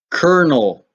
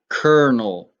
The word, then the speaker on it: colonel: looking at it because there's actually an r in the pronunciation which is not how it's spelled it's an army rank